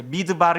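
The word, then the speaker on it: מדבר: 이 미음처럼 생긴 것을 미라고 읽습니다. 미음하고 소리도 비슷해요. 그죠? 미. 그리고 드바르. 이어서 이제 미드바르 이렇게 돼 있는데 이게 광야라는 단어인데 이 단어는 두 가지 말이 합성되어진 말이에요.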